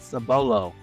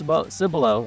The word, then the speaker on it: Cibolo: b o l and it's not sabolo it is cbolo I almost said it